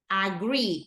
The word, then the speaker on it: agree: the first right so take a look agree agree first or second syllable second correct agree so the the stress goes into the second syllable let's see this one